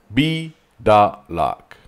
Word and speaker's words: Biedalak: At least his last name is easier to pronounce but basically is "K St K St B" Biedalak in Spanish this is "Cristobal" it's a lot easier to pronounce. Let's play it again! Krzysztof Biedalak. "Bee-Dah-lak" So the "e" is